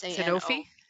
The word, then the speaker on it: Sanofi: Yeah, that's yeah, I always forget how to pronounce this drug name. Sanofi.